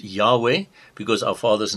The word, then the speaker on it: Yahweh: hebrew it is written yod and it is pronounced yahweh because our father's name in the hebrew is yahweh so i am the lord i am yahweh